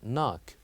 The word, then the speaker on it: knock: here as well knock here the K is silent and we only pronounce it will be pronounced as knock light knife Knight so